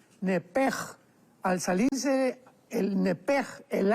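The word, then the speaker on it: נֶפֶשׁ: porque es la palabra nepesh con sh al final. Neph. En el hebreo se pronuncia eh la sh con j. Entonces, la pronunciación hebrea es nepej.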